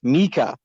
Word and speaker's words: Micah: I guess my real question, one of it's like directed to both Micah, or as I've learned his name is truly pronounced Mika and Andrew.